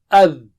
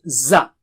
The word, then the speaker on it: ذ: So how do you say it? Dha or adh. So don't say it as za. Za is not same as dha.